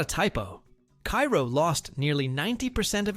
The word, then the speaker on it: Cairo: And if you're wondering, locals pronounce it Cairo.